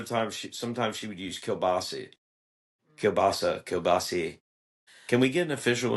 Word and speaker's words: kielbasa: It's kielbasa. It's kielbasa. But that's not Kielbasa. how it's said. But we say, like I say kielbasi. Kielbasi. No, I know, but I think that's the proper way to say it.